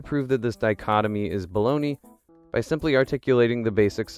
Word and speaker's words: Bologna: Baloney, just like pronouncing Bologna, baloney.